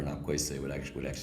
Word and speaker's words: Nakwese: Nahko is short for Nakwese, it actually means bear.